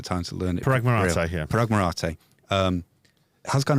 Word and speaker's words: Marathe: of different people, and that's where Parag, it's Marathe, isn't it? No, we got our heads around the pronunciation. Now is the time to learn it. Parag Marathe, yeah.